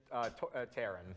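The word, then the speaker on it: Taran: Taron.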